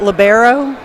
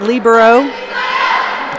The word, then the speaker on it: libero: Some people call it libero. I pronounce it libero.